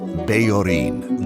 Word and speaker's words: Bellorín: a harp played by Bellorín, the Larry in Larry and Joe. Larry anglicizes his name professionally, but I'll be using the Spanish pronunciation because that's how he says it.